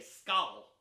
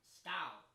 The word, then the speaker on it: skál: They say skál. Skál. Skál. Skál. It's S-K-A-L. There's an accent over the A. Skál. I don't speak Icelandic. I think it's pronounced skál. Something like that.